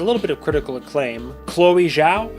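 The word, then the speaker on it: Chloé Zhao: bit of critical acclaim chloe zhao i think it's chloe zhao is how you say it she directed besides this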